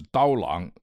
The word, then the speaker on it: Dao Lang: His name is Dao Lang. Let me spell it out.